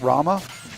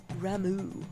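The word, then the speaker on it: Ramuh: other electric uh summon apparently I was never pronouncing correctly Rama yeah I was pronouncing it Rama it's pronounced ramu and that's dumb yeah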